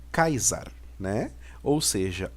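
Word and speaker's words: Καῖσαρ: olhar aqui nós temos o capa o alfa e ota Sigma ualfa e o hall né que vai dar a pronúncia de kaisa né ou seja o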